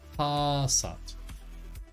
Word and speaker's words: Passat: to do that um the second one but even longer on the second syllable H Passat okay so the license